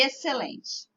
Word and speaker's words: excelente: Perceberam? Essas palavras, o C é pronunciado mais forte do que o X, né? E o X, então, acaba ficando sem ser pronunciado. Então, como o C aparece ali, com mais pronúncia, o som do X não aparece.